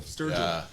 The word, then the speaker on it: Sturgill: Sturgill Simpson is that how you say it Sturgill yeah I did not know somebody was out there doing like Strawberry Fields Forever style like psychedelia over top of like Outlaw country I listen to your show Sturgill's sick yeah awesome yeah there's a bunch there's